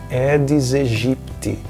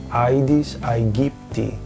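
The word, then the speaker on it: Aedes aegypti: sugerem uma simplificação vocálica então o ditongo ai tende a ser pronunciado como e na pronúncia eclesiástica é por isso que no Brasil muitas pessoas pronunciam edes egipte quando nós teríamos a pronúncia aides aipt esse como vocês sabem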